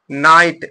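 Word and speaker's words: knight: माने घुटना फिर यहां जब नाइट में के साइलेंट हो गया तो क्या बचा नाइट एन ए आई टी नाइट यहां पर पढ़ेंगे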